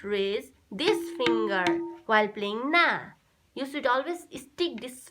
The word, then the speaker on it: Na: That bowl is Na.